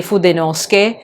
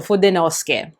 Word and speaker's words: Fudenosuke: say Fudenosuke, you say Fudenosuke. I'm not sure, maybe the Japanese speakers or those who are learning Japanese could help to explain why the U in suke in su is not pronounced.